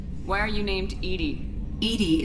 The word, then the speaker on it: EDI: are you named Edie Edie is the phonetic pronunciation of EDI that is an acronym for enhanced defense intelligence so what did you